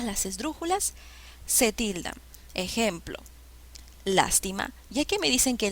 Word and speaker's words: lástima: sílabas las t lástima cuál de estas palabras lleva la mayor fuerza de voz cuál es la sílaba con mayor intensidad lástima suena bien lástima lástima la sílaba que lleva la mayor fuerza de voces la mayor fuerza de voz está en la antepenúltima sílaba por ende es una palabra esdrújula bien ahora cuando se